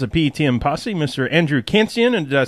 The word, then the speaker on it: Khantzian: Andrew Kantsian.